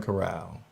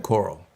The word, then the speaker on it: Corral: so let me oh his last name is pronounced just like golden corral oh i think i'm saying coral thank you thank you corral matt corral appreciate the tip there